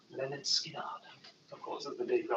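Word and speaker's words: Lynyrd Skynyrd: Next up, we've got is Leonard Skinner, pronounced Leonard Skinner.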